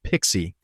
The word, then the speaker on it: PKCE: Let's zoom in on that first flow, because PKCE, pronounced Pixie, is what makes it safe to run on a phone or in a browser.